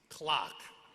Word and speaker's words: Clark: I love returning to Rhode Island to hear my last name, Clark, pronounced like the timepiece, clock.